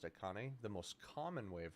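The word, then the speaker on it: Achane: the boys oh no it's it's it is a chain is it okay yeah it's Devon a chain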